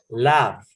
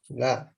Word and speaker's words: laugh: Um, for example, the verb laugh, like reír, right? Mhm. Laugh. It sounds like an F.